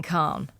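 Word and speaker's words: Calne: to tell us more about it good morning Khan good morning have I pronounced your name correctly you have perfectly thank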